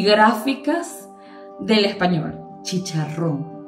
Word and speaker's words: chicharrón: es aún más es chicharrón charrón y con acento en la o asim mismo es vamos